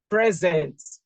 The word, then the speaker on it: present: The way you stress this word will determine what this word means. All right. Present. This is two syllable. It's two syllable. Present. I could pronounce it as present. Present. Present. Present. Present. You see, the way I pronounce them, the prominence, the force I attach in pronouncing each of the syllable will determine whether this is a noun or a verb.